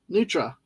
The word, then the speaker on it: nutria: Uh about the Nutria. Neutra. Ah, yeah. Like Neutra. Okay, gotcha. Thank you, Figgy.